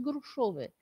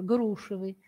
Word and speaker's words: грушевый: Расставит совершенно верно, поставит ударение и никогда не скажет грушовые. На букву «е» ударение он не поставит.